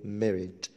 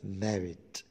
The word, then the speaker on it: married: الأمريكان يحبوا يقولوا الكلمة دي بالكسر شوية، يقولوا married، والبريطاني يقولوها married.